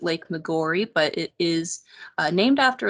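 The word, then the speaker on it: Lake Maggiore: is lake mcgorry now here at boyd hill we do pronounce it lake mcgorry but it is named after a lake in italy so perhaps the original pronunciation was more like maggiore or something like that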